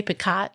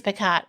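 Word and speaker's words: Picoult: And he doesn't he say Piccott? Yeah. He and he said it's Picott. Well, I had to listen to it today cuz I didn't know how you actually pronounce it, but it's Pico.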